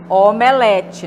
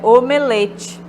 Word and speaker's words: omelete: o fechado mas o geralmente a gente ouve omelete né mas o correto é omelete assim como alcova e